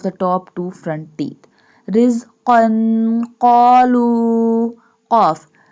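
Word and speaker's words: رِزْقًا: Rizqan qalu. Qaf. Both qaf in rizqan and qalu pronounced boldly.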